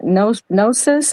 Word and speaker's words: Gnosis: The only thing that I really know to offer regarding Gnosis, am I saying it correctly?